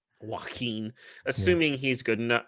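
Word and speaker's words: Joaquín: Joaquin.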